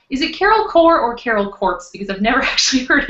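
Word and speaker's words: Carol Corps: Is it Carol Core or Carol Quartz? Because I've never actually heard it out loud. I've always said Core. Yeah, I mean, because that's how the word is pronounced. Yeah. But, okay, so Carol Core.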